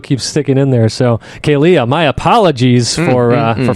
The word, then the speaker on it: Kealia: blanking I want to keep calling her Kila but there's another there's another syllable on the name backer kayia there you go I